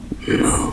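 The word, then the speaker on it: 木: hoàn toàn giống nhau và cái này được phát âm là "mu" , nó chỉ có nghĩa là cây và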